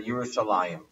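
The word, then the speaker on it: ירושלים: where it says Yerushalayim, but the second yud is missing. So it would actually, if you just read it just by the letters, it would be Yerushalayim. But we know that we pronounce it as if the yud is there, Yerushalayim.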